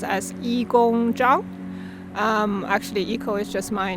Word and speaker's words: Yigong Zhang: My Chinese name pronounced as Yi Gong Zhang.